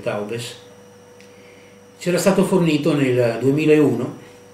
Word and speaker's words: Taubes: Jacob Taubes in divergente accordo, scritti su Carl Schmitt, edito da Quodlibet. Il libro è del 1996. Il nome di Jacob Taubes, noi pronunciamo alla francese, forse anche Taubes, c'era stato fornito nel